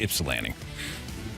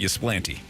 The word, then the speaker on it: Ypsilanti: I think the locals say Ypsilanti. Either way, it's not Ypsilanti.